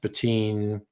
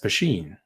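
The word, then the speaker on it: poitín: n depending who writes it but it's not pronounced ptin or poon it's pronounced pen oh there you go you speaking sindarin which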